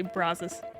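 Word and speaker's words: Brazos: evina with the scenery I talked to a local about how you pronounce the river name and it just does not feel natural to say brazes absolutely not brazes but I will commit to it yeah you sound much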